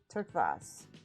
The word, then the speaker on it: turquoise: a great name hello same spelling but we say turqvas turkvos oh that sounds amazing turkvos